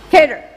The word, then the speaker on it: cadre: research this community Cadre I don't even know how to say it kedra how do you say it Sanjay cater cater okay and social integration normalization